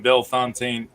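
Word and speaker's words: Bellefontaine: competitor mr nathan wilson of 600 downtown in belfontaine ohio uh so i'm gonna play our absentee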